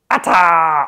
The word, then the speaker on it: ATA: Ata, of course, stands for ask the architects anything. And no, you can say it like a normal person. It has to be ata.